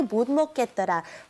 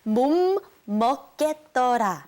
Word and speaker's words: 못 먹겠더라: our lesson, which was 난 냄새 때문에 도저히 못 먹겠더라. First, let's try to get the pronunciation correct in the last part, okay? It's 못 먹겠더라.